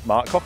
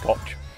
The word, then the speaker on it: Koch: I'm going to see Mark Cock at Dragon Pass. Mark Cock at Dragon Pass. It's pronounced Koch. Mark Koch? Yeah, it's Koch. It's okay, sorry Mark, Koch.